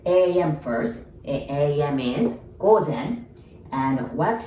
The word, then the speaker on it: 午前: So AM, we say 午前. 午前. Like go, like let's go is go. And zen, as in the kom zen, 午前.